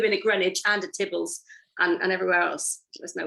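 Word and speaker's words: Theobalds: um and then they went off to tibbles this is how they pronounce theo bells in those days um and which was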